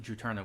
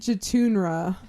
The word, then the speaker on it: Juturna: Oh, and that's how you say it, Katie. Juturna? Juturna, gotcha. What'd you say? I've never heard it pronounced. So I don't know. Oh, we were hoping you knew. I think I said Jutunra.